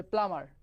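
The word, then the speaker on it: plumber: বা উচ্চারণ প্লাম্বার, কিন্তু এই যে বি যেটা আছে, এই বিটা কিন্তু তোমার উচ্চারণ হবে না। অর্থাৎ এটার যখন আমি উচ্চারণ লিখবো তখন হচ্ছে জাস্ট এই যে এরকম, যে প্লামার, হ্যাঁ, এম একবার, ঠিক আছে, প্লামার, প্লামার।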